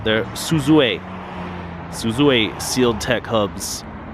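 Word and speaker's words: Suzue: good rims and we used to call these Susy hubs but they're not there Suzu a isuzu a sealed tech hubs these are pretty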